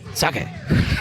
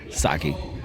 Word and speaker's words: sake: not a proper pronunciation so I'm sure that like there is a Japanese pronunciation which is sake sure s but I would say saki that's how I say s eight okay six